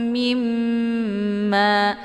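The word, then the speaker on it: مِمَّا: Tasydid di mim ini dinamakan dengan gunnah musyaddadah. Jadi cara bacanya itu didengungkan. Mimma, ya, ditekan dulu mimnya, kemudian ditahan suaranya, langsung dileburkan ke dalam huruf mim.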